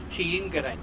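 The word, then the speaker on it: Þingeyri: That's probably horrendously pronounced again, but They don't pronounce TH as th. okay, It's a hard T. okay. Tiingere.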